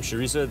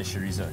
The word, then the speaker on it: chorizo: Yeah, but the K is never an option. You can't ever call it chorizo.